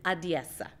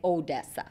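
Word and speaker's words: Odesa: say it just their own way and it's adiesa and it took me about six months to learn how to say that correctly a lot of people say odessa and then they know you're not from there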